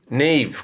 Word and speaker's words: Niamh: Yeah, no, it's NIAMH. Look at his face. I know. But it's actually the Irish language. So it's the Gaelic language, and that's where her name was derived from.